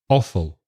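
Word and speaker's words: offal: chuletas chops liver right oh that's difficult awful o double f a l awful manteca lard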